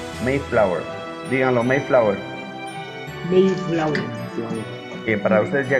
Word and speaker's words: Mayflower: Se dice Mayflower. Mayflower se escribe, pero se pronuncia Mayflower.